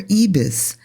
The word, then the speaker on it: Ibis: contract I got with Ibis or ebis as it's pronounced in meta go over to ebis